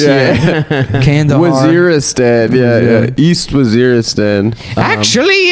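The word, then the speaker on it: Waziristan: East Wazeristan. Actually, it's pronounced Wazeristan.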